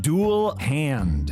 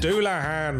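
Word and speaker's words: Dullahan: It's pronounced ein hairyar. Say tires? It's satyrs. Okay, I think I got this one. Dual hand. Doulahan.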